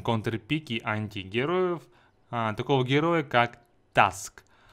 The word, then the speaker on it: Tusk: банить Кстати хотел заметить Многие думают Как правильно говорится или таск или Туск правильно говорить таск именно так в оригинальной озвучке он называет сам себя таск Ну что ж поехали